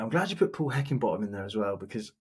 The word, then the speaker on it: Heckingbottom: Heckingbottom. 4 syllables, and to have it as Heckingbottom. Yeah, it's like Higginbottom.